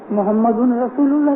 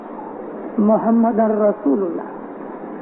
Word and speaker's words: मुहम्मदुर रसूलुल्लाह: मुहम्मदुर रसूलुल्लाह, मुहम्मदिन भी गलत है, मुहम्मदुन भी गलत है। मुहम्मदुन रसूलुल्लाह कभी मत बोलो, मुहम्मदुर रसूलुल्लाह।